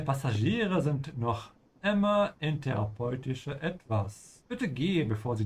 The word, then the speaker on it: therapeutische: Deine Passagiere sind noch immer in therapeutische Etwas. Bitte geh, bevor sie dich sehen. Behandlung. Ja, Deine ganz, ja. Passagiere sind noch immer in therapeutischer Behandlung.